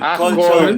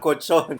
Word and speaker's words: colchón: Colchon. Colchón. Yeah, I missed the L. Sorry, so colchon, not cochon.